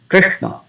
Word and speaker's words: Krishna: So after this Re, there is a combination of consonants, Sha and Na. So we have to give some pressing effect here. Krishna, Krishna, Krishna, Krishna, Krishna, not Krishna, Krishna, but soft.